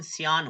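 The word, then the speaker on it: cyan: तीसरे नंबर पे इसको सियान भी पढ़ते हैं, क्यान भी पढ़ते हैं, बट इसका असल प्रोनाउंसिएशन सियान होता है।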